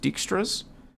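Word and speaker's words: Dijkstra: it unfortunately uh extras the J is silent maybe just dextras Dexter's algorithm perhaps a parent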